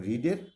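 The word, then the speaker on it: read: সেটার past participle, এবং রিডের past participle রেড, উচ্চারণের পার্থক্য হয় কিন্তু বানানটা একই থাকে।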